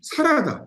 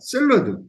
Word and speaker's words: 샐러드: 바란스, 밸런스인데 이게 만약에 이걸 못 고친다면은 저는 발음이라도 사라다, 샐러드, 브레이크잖아요. 이게 일본식 발음을 그대로 가지고 있는 거예요.